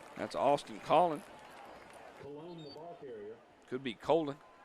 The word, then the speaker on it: Colon: Could be Colon. C-O-L-O-N.